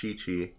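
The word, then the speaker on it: Qiqi: Qi is pronounced, but there's a character whose name is Q IQI and it's pronounced Chi-Chi.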